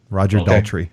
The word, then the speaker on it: Roger Daltrey: the music over the top of it, because Roger Daltrey, right? Is that his name? Am I saying it right? Roger Daltrey.